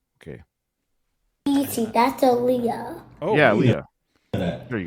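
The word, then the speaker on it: Aaliyah: who who died in the plane crash Ilia Alia Alia um I don't know how to pronounce her name okay that's a Leah oh yeah Leah there you go at youz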